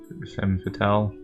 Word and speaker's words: femme fatale: Just more of her passive-aggressive act as a how do you pronounce that? Fatale? Femme fatale.